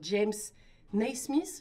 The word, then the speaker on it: James Naismith: Ok, moi je savais pas que tu vois, ça avait été inventé par ce James Naismith, je prononce bien?